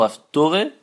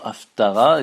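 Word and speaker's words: Haftarah: Alors l'usage populaire chez les Ashkenaz, c'est de prononcer ce mot Haftore, qui vient aussi du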